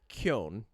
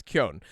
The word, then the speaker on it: Keoghan: So Barry Keoghan is how you say it in proper Irish, right? Like proper Gaelic. Like that's how you say it. It's Keoghan. The GH transitions from the KEO into the N sound. So it's Keoghan. Keoghan.